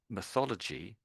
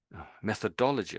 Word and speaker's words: methodology: So basically it's method first first of all and then ology stuck on the end.